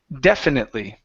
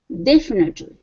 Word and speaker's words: definitely: this is e okay give me a short e at the beginning definitely definitely okay okay uh little